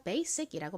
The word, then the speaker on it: basic: 그런데 원어 발음으로는 여기서 이 S가 지읒이 아니라 시읒에 가깝게 발음이 됩니다. 그래서 basic이라고 발음돼요. basic. 좀 세게 발음돼서 거의 쌍시읒에 가깝게 들려요.